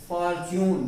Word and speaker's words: fortune: लिखा क्या गया है, फॉर्च्यून। देखिए यहाँ टी आया, टी के बाद यू आया, तो उसको हमने च पढ़ा।